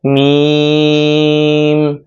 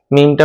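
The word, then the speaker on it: ميم: তারপর হরফের নাম হলো মিম। মিমটা উচ্চারণ করতে হবে দুই ঠোঁটের শুকনো জায়গা থেকে হালকাভাবে চাপ খেয়ে মিমটা উচ্চারণ হবে।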